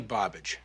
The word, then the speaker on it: Bobbage: Woody Bobbage. Rhymes with garbage.